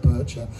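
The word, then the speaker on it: Boettcher: I never quite understood how to pronounce his name, but I went and checked it the other day, and apparently it's Kurt Bircher.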